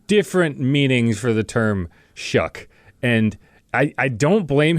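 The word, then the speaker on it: Shough: g h is like it's just means it's pronounced shuck and he there is one like kind of Icelandic definition of that it's a little shaggy dog and it's like yeah, cool.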